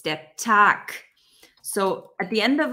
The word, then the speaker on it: der Tag: Okay, it's not der Tag, it's der Tag. So at the end of a word, when there's a B, it's pronounced like a P. When there's a G, it's pronounced like a K.